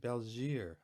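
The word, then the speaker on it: België: But I'm pretty sure they say, I asked them when I was over in Brussels how to pronounce it, and they said Belgier, I believe.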